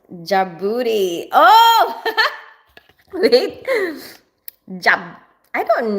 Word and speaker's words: Djibouti: Djibouti is pronounced Djibouti.